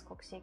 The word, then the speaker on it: Koksik: My original pronunciation of my nickname is Koksik. It's what it is. It's how it is pronounced.